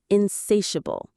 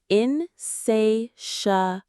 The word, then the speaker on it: insatiable: Insatiable. Insatiable. Insatiable. The stress is right there in the middle on say.